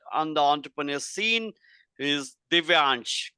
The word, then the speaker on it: Divyaans: the youngest Blood on the entrepreneur scene is Divan correct Divan yes did I pronounce it correctly okay okay so welcome to